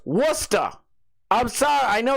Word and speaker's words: Worcester: It's pronounced Worcester. The glarer. It's pronounced Worcester. I'm sorry. I know it's weird. It's not Warchester.